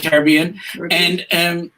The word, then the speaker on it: Caribbean: And then, notice I pronounce it properly, the Caribbean.